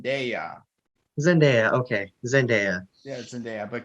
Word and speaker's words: Zendaya: she just wanna just wanna correct you it's pronouncing daya zendaya okay zendaya yes india but keep keep going